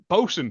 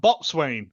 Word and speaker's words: boson: hion boson man uh boson not bot Swain as I've heard someone